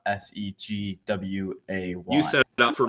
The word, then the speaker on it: segue: But Ross is telling us it's SEGWAY. Okay, Segway. Well, comment in the chat how you. Segway. That's the thing you drive. It's spelt like that.